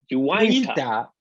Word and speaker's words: Uinta: I'm going to say it's probably one of the least the breweries that are pronounced incorrectly the most. I still have trouble. Uinta.